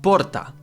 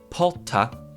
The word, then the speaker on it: porta: You just need to know that in different parts of Brazil, it's either going to get pronounced porta, like with the H, or porta, or porta, like an American R, which if you really